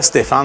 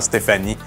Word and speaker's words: Stéphane: peut-être que je changerais Stéphane parce que les Anglais ont de la misère à prononcer Stéphane. Ça n'existe pas en anglais, ils disent tout le temps Stéphanie.